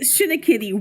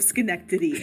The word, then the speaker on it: Schenectady: said Shinnikitty once instead of Schenectady, and you will never trust me again.